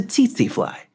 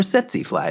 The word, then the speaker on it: tsetse fly: The tsetse fly, or tsetse fly, as some say. I don't think there's actually a right way to pronounce it.